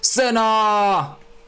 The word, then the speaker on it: Senna: It's not Senna, it's Senna! That's how you pronounce it.